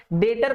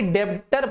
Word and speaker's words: debtor: भाई इसमें B silent होता है, ठीक है। हालांकि इसमें उनका कोई गलती नहीं है, जैसा वो पढ़ के आए हैं वैसा वो प्रोनाउंसिएशन करते हैं, बट ये डेट होता है। तो हम लोग इसको डेटर भी, मतलब DEBTOR को डेटर पढ़ते हैं, डेब्टर नहीं पढ़ते हैं।